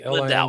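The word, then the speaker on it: Lindow: How do you pronounce his name? Hudson Lindau, I think. Lindau.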